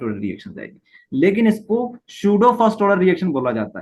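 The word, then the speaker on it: pseudo: तो फिर भी हमने इसका नाम फर्स्ट ऑर्डर रख दिया है, तो इसको इसलिए बोला जाता है सूडो फर्स्ट ऑर्डर रिएक्शन, ठीक है। पी यहाँ पर साइलेंट है।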